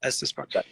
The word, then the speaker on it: Estes Park: Is it Estes Park? Is that how you say it? Yep, Estes Park.